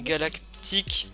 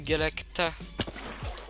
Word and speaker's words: Galacta: Surtout que t'as l'habitude certaines fois de dire galactique, sauf que là c'est Galacta.